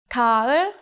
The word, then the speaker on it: 가을: Take 리을. It usually sounds like a mix between R and L in English. But when it's the 받침, it always becomes an L sound. 가을, autumn.